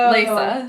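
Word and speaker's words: Leysa: going to try and I think we've all said it differently I think we should ssaa it's l e Ys a Lisa so that's 13 to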